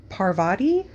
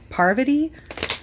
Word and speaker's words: Parvati: malfoy and pavardi patil i don't think i ever pronounced her name right ever since i watched survivor i'm like oh my gosh am i just pronouncing it all wrong is it parvati parvati um pavardi like like is it like havarti uh cheese you know like is it harvardy no because i think havarti cheeses h-a-v oh why am